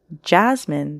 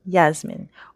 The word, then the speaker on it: Jasmine: like yeah in Spanish so instead of calling me Jasmine they may call me Yasmin or for the letter